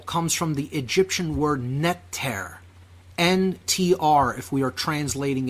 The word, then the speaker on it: neter: All right, natural comes from the Egyptian word netter, N-T-R, if we are translating it out of Old Coptic Egyptian.